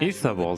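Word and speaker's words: Ithavoll: Ithavol, that's how you pronounce it, huh?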